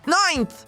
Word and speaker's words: ninth: Ninth. O som inicial é nine. Em seguida, a gente coloca a pontinha da língua entre os dentes para fazer o som do TH.